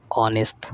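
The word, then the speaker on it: honest: अगला देखिए श इ ऑनेस्ट देखिए इसमें एच साइलेंट होता है ऑनेस्ट पढ़ा जाता है ऑनेस्ट वमन ऑनेस्ट में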